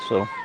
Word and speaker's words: So: How do you pronounce her last name? So.